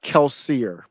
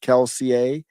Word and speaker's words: Kelsier: of his history here it's per oh it's pronounced keler okay so it's keler kills it comes from some type of Brandon sanser sanson's mistborn series I'm not familiar with that some fans pronounce it keler that's what I thought because it's French but